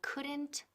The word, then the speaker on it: couldn't: Ojo, la pronunciación couldn't. La L aquí es muda.